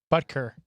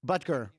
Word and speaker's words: Butker: Butker. Butker.